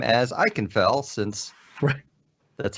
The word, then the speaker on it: Ikenfell: And Ema's one taught me how to say the game's name as Ikenfell, since that's how they say it in the song.